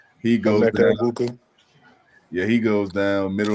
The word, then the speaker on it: Egbuka: mean, Mike Evans goes down, Chris Godwin goes down, Emeka Iboka, I believe I say his name. He goes Emeka down. Egbuka.